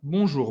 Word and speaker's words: Bonjour: vou deixar alguns Alguns o ar da Ka Bonjour bonsoir preste atenção na pronúncia Só não vai estar aqui Bonjour o